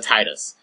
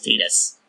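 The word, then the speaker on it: Tidus: I'm amazed they didn't throw Titus from Final Fantasy X, by the way, it's pronounced Titus, not Titus, into this game.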